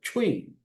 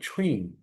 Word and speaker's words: chewing: এটাকে চুইং বলতাম, শুধু বলতাম, কিন্তু কি বলো ছুইং। জোর দিয়ে বলবেন ছুইং।